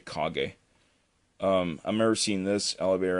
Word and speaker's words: Kage: A lot of people pronounce it Cage, but it's actually Kage.